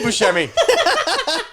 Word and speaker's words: Buscemi: steven seagal no st he won't even say your name correct yeah he's like butchered to tell me to tell me steve buscemi see he could do it correctly you're probably excited i'm